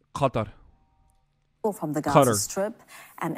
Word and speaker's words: Qatar: How do you actually pronounce Qatar? It's Qatar. In Turkey, we say Qatar, but I think it's Qatar from the Gaza Strip